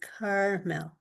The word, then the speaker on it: Carmel: And Allison wanted to let me know that where she's living, her place is called Carmel, with the accent on the first syllable, in Indiana.